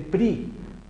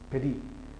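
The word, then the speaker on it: פְּרִי: Entonces hay ocasiones en donde se lo quitan totalmente y dicen simplemente pri. Pero ahí también, digamos, lo que ya se van al otro extremo de no pronunciarla. Y es muy corta, es reducida, es absorbida, pero no. Peri, peri, peri. Bore, peri, hagefen o pri. Muy cortito.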